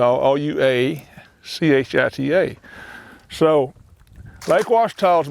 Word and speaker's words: Ouachita: There's no Lake Ouachita bass.